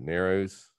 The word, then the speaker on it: Narrows: there in, is that Narrows? I think it's Nares. I think the locals pronounce it Nares.